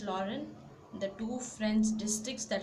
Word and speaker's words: Lorraine: Then Alsace and Lorraine, the pronunciation is Alsace, and second it's Lorraine, the two French districts that had passed into Prussian hands.